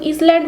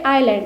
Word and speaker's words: island: আইল্যান্ড কথাটার মানে হচ্ছে দ্বীপ, এখানে ISLAND, আইল্যান্ড, এটার কিন্তু ইসল্যান্ড উচ্চারণ হবে না, এটা হবে আইল্যান্ড, এখানে এসের কোনো কিন্তু উচ্চারণ হয় না।